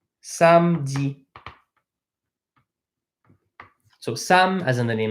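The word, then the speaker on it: samedi: bit of a small lesson of a small pronunciation lesson on on these words with a vowel n okay saturday is Sam Z some Z so some has anything like Sam kinda like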